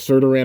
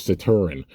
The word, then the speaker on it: Saturn: And we get, I thought it was Serturan at first. It's Saturn. That's how you pronounce it, is Saturn.